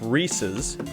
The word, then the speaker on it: Reese's: is so it's it it belongs to a man named rhys so it's reese's and then you just